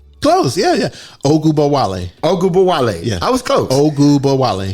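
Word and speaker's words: Ogunbowale: Arike Agubowale. Close. Yeah. Ogubowale.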